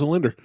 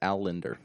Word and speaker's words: Al Linder: me a message and told me I pronounced his name properly. What is it? Al Linder. Is it Al Linder? Yeah. I thought it was a Linder. Well, you know what, Corey? My bad. Yeah, he goes, you pronounce it right, Martelle. It's Al Linder.